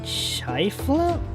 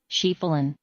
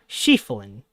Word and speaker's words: Schieffelin: How to pronounce Schieffelin. This better be how I think it is or I'm going to be sad AF. Schieffelin Ah, okay. I was a little off. Schieffelin.